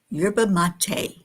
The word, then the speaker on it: yerba mate: Yurba mate is how it's pronounced.